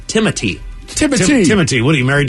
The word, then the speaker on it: Timothée: while it does look like Timothy with an accent over it, it's Timothy.